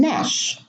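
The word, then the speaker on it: gnash: Two more words with a silent G at the beginning of the word: no and nash. The G here is followed by an N and it is not pronounced, no.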